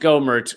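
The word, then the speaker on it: Gohmert: I I can see someone said that it's pronounced gomert which is the wrong way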